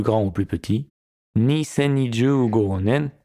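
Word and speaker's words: 年: Et la réponse sera du style, du plus grand au plus petit, 2025 nen 4 10 desu. Le 10 avril 2025. Premier kanji, l'année, en lecture on, nen, en lecture kun, toshi.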